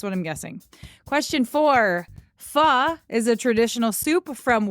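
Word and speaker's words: phở: delicious oh we love F love it but it's spelled pH H so it looks like it would be pronounced faux fo but it's F so yum question five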